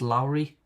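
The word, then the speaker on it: lourie: I think it's pronounced Lowry.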